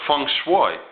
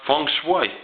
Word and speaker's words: feng shui: You look at it as far as like Japanese science, they call it feng shui. It's feng shui.